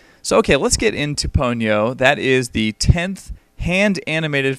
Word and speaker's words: Ponyo: Well, everyone in the movie says Ponyo, except for one guy, played by Liam Neeson, who says Ponyo. So I'm assuming that Liam Neeson just didn't know how to pronounce it, and it really is Ponyo.